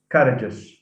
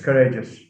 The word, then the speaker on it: courageous: I've heard many people, I mean, mispronounce it as courageous. Courageous. It's courageous.